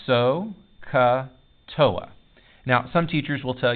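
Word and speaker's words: SOHCAHTOA: what they are by this mnemonic device it's pronounced so katoa now some teachers will tell you a sappy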